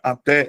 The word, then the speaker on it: até: Talvez alguns de vocês fossem pensar assim: "Poxa, professor, mas até tem duas sílabas, então não deveria ter só uma não. Não deveria ser monossílaba não, professor, porque eu aprendi que até era monossílaba. Você aprendeu errado, tá? A palavra até ela é de sílaba.